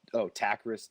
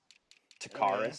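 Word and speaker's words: Takkarist: It is Takarist McKinley. Takarist. So he was like saying it like it was I thought it was Game of Takarist.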